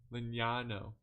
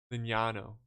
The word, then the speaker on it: Lignano: help me the n-y-a i don't know how to pronounce n-y-a yano linano that's it yano see lignano lignano got it that's pretty cool